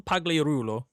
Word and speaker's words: Pagliarulo: I don't know if it's a hard G or a soft G, but Soft G. He's like Italian, I guess, or something. well, Emil Pagliarulo.